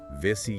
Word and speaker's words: Vesi: Vissy yoga. Sometimes it's spelled vetu with an h, right? Vishy yoga.